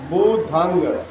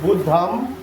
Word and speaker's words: बुद्धं: ठीक है, तो सही उच्चारण क्या है, ध्यान से हमारे शब्दों पर दीजिएगा। बुधंग, बुधंग, ठीक है। चलिए। शरणंग गच्छामि, बुधंग शरणंग गच्छामि। गच्छामि लोग बोलते कैसे हैं, ऐसे बोलते हैं बुद्धम शरणम गच्छामि।